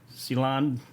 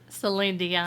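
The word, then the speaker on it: Céline Dion: voice almost reminds me of uh young's um ceylon how you say her name celine dion silly yeah that's it yeah hey i tell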